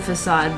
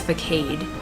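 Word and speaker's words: Fassad: about that name because you pronounce it like the actual word facade but people didn't realize that's how you pronounce the word facade you know really yeah like they thought it was vacade oh i didn't know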